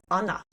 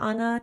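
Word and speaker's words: Ait: Kind of like a little compulsion thing, alpha power, otherwise known as Anna, which it's weird because it's spelled AI t, but Gaelic pronounced Anna or an weird.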